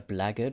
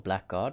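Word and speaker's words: Blackguard: dead corpse over here the blaggard or black guard depending on how you want to pronounce it the doors that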